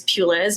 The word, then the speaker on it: Puliz: my last name is Peis my husband had to teach me how to say it it's like a church pew and a little girl named Liz and then you smash them together I get a whole